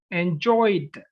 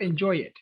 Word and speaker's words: enjoyed: Visited, loved, not love it, loved, enjoyed, not enjoy it, studied, not study it. You don't pronounce it that much.